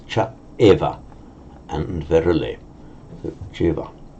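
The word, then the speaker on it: ceva: So Jeva. Incidentally, it would never be reflected in the pronunciation. You just say Jeva.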